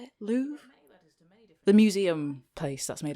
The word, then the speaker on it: Louvre: the L the how do you say it Lou the museum place that's made of glass went